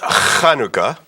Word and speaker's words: Chanukah: is it spelled okay it's pronounced Hanukkah with a CH okay but there is